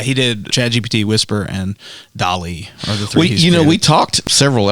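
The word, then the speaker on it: DALL-E: an image artificial tell it's called Dolly but it's spelled like Wally but with a d so it's sort of like Salvador Dali but also like Wally the company is open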